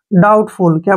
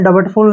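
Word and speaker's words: doubtful: और एल से ले डाउटफुल क्या पढ़ेंगे इसको डाउटफुल आपने डबर्ट फुल नहीं पढ़ना है डाउटफुल पढ़ेंगे हमेशा डाउटफुल मींस होता है संदेह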